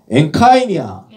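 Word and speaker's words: ἐγκαίνια: 자, 엔카이냐. 에그카이냐가 아니라 요 이제 M 사운드를 발음하죠. 앞에 뒤에 카프가 없기 때문에 엔카이냐.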